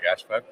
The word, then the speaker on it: Gáspár: Uh, we have our amigo and I wanted to ask sis uh Gashburg. Yeah, Gashburg. Uh, Hungarian pronunciation.